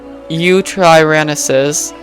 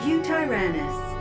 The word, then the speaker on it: Utahraptor: one Quetzal, and two Utahraptors. I I don't know how to say that. Utahraptor. Utahraptor. Yeah, that's how you say it.